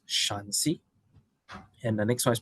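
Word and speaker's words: Shanxi: are inner Mongolian uh I am told this is pronounced shansi and the next one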